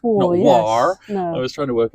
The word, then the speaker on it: Warr: Tracy War I presume your name is pronounced it's War I was trying to